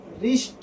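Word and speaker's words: wrist: अब देखिए डब्लू के बाद अगर तुरंत बाद आर आता है तो वहाँ पर डब्लू क्या होता है, साइलेंट हो जाता है, मौन हो जाता है।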